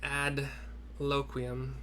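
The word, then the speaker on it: Adloquium: We learn ad loquium. However you want to pronounce this.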